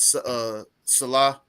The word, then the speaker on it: Saleh: I know I keep can't getting pronounce his last Salah. It's Salah, Robert Salah.